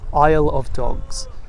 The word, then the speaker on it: Isle of Dogs: Isle of Dogs. You know, very much like the Isle in British Isles, meaning island. You know, not to be confused with the aisle in a supermarket, which is kind of